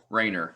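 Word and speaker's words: Rainer: and actually I have a bunch of them Rayner I'm sorry I said his name wrong one of his books who moved my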